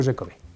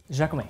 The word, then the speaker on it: Jacomet: I have Jacomet with me from, did I say it right? Yeah, Jacomet. Jacomet.